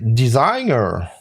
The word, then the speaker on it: designer: Alors qu'avec un véritable pinceau rond, pointu, de style designer, oui, je le prononce à l'anglaise parce que sinon on va me faire des reproches en disant « Ouais, c'est designer !» Designer, voilà.